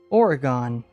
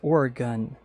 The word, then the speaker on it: Oregon: You look at Oregon and you think that's spelled like polygon hexagon Oregon and that's no. Unfortunately, it is Oregon like you're you have a gun.